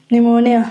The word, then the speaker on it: pneumonia: P is silent in PS or PN word. Pilent. So nice. Good. Psycho pneumonia.